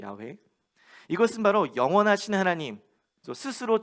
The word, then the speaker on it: 야훼: 히브리어 원어 발음으로는 야훼라고 하죠. 야훼.